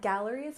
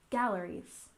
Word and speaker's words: galleries: we have art galleries you remember that galleries has a stress on the first syllable galleries galleries for example art galleries